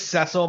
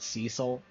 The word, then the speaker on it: Ceil: And it is Ceil by the way, not Cecil. I don't I don't know why they pronounce it that way, but same with Yang.